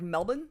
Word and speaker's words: Melbourne: canbra or Melbourne Melbourne Melbourne actually like you don't pronounce the r at all it's more like Melbourne are you cringing at